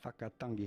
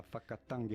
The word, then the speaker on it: whakatangi: One important thing to have in mind that most people get wrong is that WH in Maori sounds like F, the sound of the letter F, and most people get this wrong.